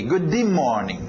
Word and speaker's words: good: batem muito M bem a tendência do português seria colocar um I aqui Good Ok não queremos isso não o que você vai ter que fazer no Inês é engolir esse D simplesmente não entr nessa